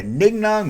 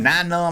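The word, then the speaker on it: Nien Nunb: So let's go on to Nignum, Ninum. I said Nignum a long time ago. Like, you're not supposed to say that, Junkman. That's wrong. Don't say it like that.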